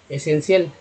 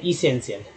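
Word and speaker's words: essential: अब सेन तो फिक्स है, सेन फिक्स है ना, तो असेंशियल, असेंशियल, असेंशियल, इसेंशियल, इसेंशियल, एसेंशियल, एसेंशियल नहीं इसेंशियल, यही दोनों में से 2 उच्चारण होगा, तो यानी इसेंशियल।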